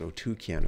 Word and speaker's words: Otyken: and O otuken otuken right that's how it's pronounced otuken according to Wikipedia so drop some comments Below